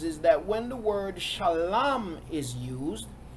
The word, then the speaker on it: shalom: asked, as far as why do we say shalom, S-H-A-L-U-M, as opposed to shalom, S-H-A-L-A-M, or shalawam, S-H-A-L-A-W-A-M, as some will spell it.